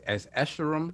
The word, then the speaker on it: Escharum: How you pronounce it? It's Escharum.